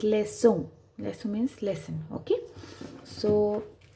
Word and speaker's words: leçon: Okay, so it's not ka, it's not fonke, ka, it becomes sa, fonse, like leçon.